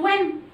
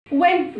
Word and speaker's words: when: زي كلمه وين سوري وين جه بعدها اي، فبالتالي برضو ما نطقتش الايه الاتش.